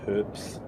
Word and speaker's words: herbs: And there's herbs. Is it herbs or herbs? You can say it either way. Because I've heard some people where like the H is silent A somehow.